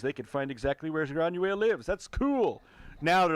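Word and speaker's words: Granuaile: Granuel McTiernan.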